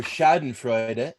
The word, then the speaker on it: Schadenfreude: Schadenfreude, or Schadenfreude, if you want to go to the German pronunciation, is pleasure derived by pleasure derived by someone from another person's misfortune.